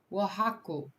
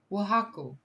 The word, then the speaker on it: Oaxaca: How to pronounce? Oaxaca. Oaxaca. Okay, Oaxaca.